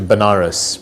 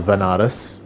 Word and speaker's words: Banaras: ended up going to banaras which is a place in in india sometimes pronounced as vanaras which is a place